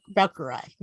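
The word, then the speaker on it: Braucherei: powwows what is that how do you pronounce that second one the brachiary browkarai yeah that was that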